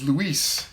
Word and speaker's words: Luis: Luez says, it's Luis. Got it. Luis. I'm on it, brother. But with more emphasis on Luis. Yeah, I got you. Luis. Like en Espanol. With the Z pronounced as an S.